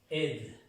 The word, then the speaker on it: aide: Merci de votre su aide. La A y la I se pronuncia E.